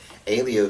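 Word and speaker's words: Helio: Dixon is Rickson and he's pretty complicated but Elio Gracie which is an h h e l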